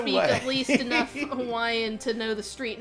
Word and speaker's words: Hawaii: Here's the rule: if a W is at the beginning of a Hawaiian word, it's a W. If it's in the middle of the word somewhere, it's a V. yeah. So Hawaii is actually pronounced Hawaii, by the way.